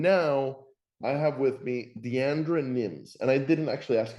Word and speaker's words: Diandra: furniture Tech and now I have with me Deandra Nims and I didn't actually ask you how to pronounce her name so Deandra names did I get anywhere close um Deandra so yes you were right in the ballpark